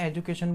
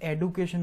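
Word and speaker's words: education: एजुकेशन American language में एजुकेशन बोला जाता है जो हम बोलते हैं। ब्रिटिश लैंग्वेज में उसे एडुकेशन बोला जाता है।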